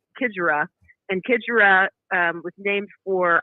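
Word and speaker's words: Xigera: They call her the X Factor because it starts with the X, but it's pronounced Kidgera.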